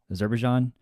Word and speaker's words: Azerbaijan: Azerbaijan.